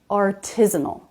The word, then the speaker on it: artisanal: This word does have second syllable stress, artisanal.